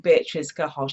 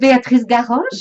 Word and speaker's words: Béatrice Garoche: show than the lovely Béatrice Garoche? And I've pronounced her name wrong. She's going to give you the proper spelling in a second, because I can't roll my tongue.